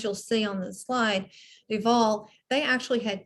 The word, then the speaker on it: Duval: How do you pronounce Duval? Duval.